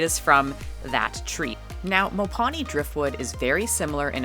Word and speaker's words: Mopani: I have looked up the pronunciation of this, and it's pretty split on whether or not the tree is referred to as Mopani also, or just Mopane, but the wood is Mopani, and it is from that tree.